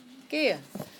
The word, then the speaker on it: gehe: Gehe. Okay. The I at the end is pronounced a.